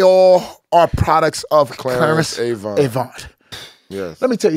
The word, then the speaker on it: Avant: There's none of these people without Clarence Avant. He's the first. This and they guy, call him Clarence Avon, is how they say it.